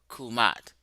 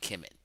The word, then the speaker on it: Kemet: Banoob, that you were right about the pronunciation, which they didn't catch, of Kumat, not Kemet. Dr. Banoob said they pronounce it in Coptic Kumat, not Kemet.